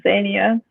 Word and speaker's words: Xenia: air and I apologize zinnia zinnia am i pronouncing that properly yeah my name is Xenia my last name is